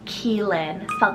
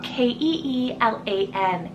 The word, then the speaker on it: Keelan: times it's quite gender neutral is the name Keelan k-e-e-l-a-n Keelan another l-a-n ending name that I love